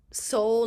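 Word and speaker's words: SOL: big accomplishment is founding Soul Nation, and that's spelled S-O-L Nation, in 2018.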